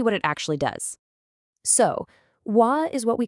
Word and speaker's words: は: Even though it's written with a character for ha when it's used as a particle, you always always pronounce it w.